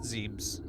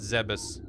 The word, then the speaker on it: Zebes: I always pronounced it Zebes. I think in the games they call it Zebus. I just like Zeebs.